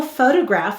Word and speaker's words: photograph: The first syllable is fo. O. Do you see this? The second syllable is to. T-o. The third syllable is graph.